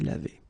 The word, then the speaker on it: lavée: the feminine form, then you should add this e at the end, but then phonetically it doesn't exist, you don't pronounce it, so it would be exactly the same form phonetically, je me suis lavé.